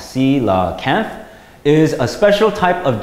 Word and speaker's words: coelacanth: more about this mysterious dinosaur fish the coelacanth pronounced sila Kenneth is a special type of giant fish so